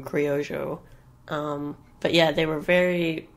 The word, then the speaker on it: criollo: And yeah, the Spanish, I think, pronounced them criollo.